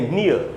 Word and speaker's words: near: इसमें भी ई और ए का पेयर है, ये वाला ई और ए, लेकिन ये एक्सेप्शंस में आ रहा है, तो इसमें ई का भी उच्चारण होगा और ए का भी उच्चारण होगा। वो वही है उच्चारण जैसे उसमें था ईयर, तो इसको हम पढ़ेंगे नियर।